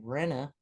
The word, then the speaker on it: Renaissance: Renaissance. It's a 3-syllable word, but here it looks like a 2-syllable. You could say Renaissance, and it's 2.